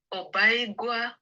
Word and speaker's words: Obaigwa: So let me ask you to pronounce your name the way you love it to pronounce, and tell us a little bit about yourself. My name is Obaigwa.